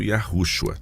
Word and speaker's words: Yahushua: Seu nome, como todos sabemos, significa Yahweh salva, e é pronunciado Yahushua.